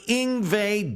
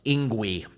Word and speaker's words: Yngwie: And before I ever heard it spoken, I thought it was pronounced Ingui. Anyway, uh, Ingve came on the scene